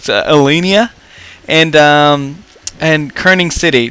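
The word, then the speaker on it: Ellinia: of them pure on i call it elena which is i know it that's not the way you call it elenia and um and kerning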